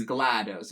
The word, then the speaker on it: GLaDOS: be in charge of it's GLaDOS it's a short a because it's supposed to sound like glattus yeah uh like what